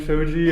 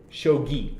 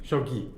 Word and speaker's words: shogi: up and they try to beat Hitler and Shoji and it's like I'm only gonna correct you because like you're going to Japan and like yeah I think you would appreciate it shogi shogi yeah okay yeah where someone was like uh